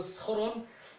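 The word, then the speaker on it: 契: 거 그리고 저기 그 설은 그 역 순신 명야 순의 신하의 이름이다 설 이게 그 계약할 때 자죠 그죠 계약할 때 기 자인데 이름으로 쓰이면 이름으로 쓰면은 설이라고 읽어요 설이라고 읽어요 사도는 사도도 감이고 사람이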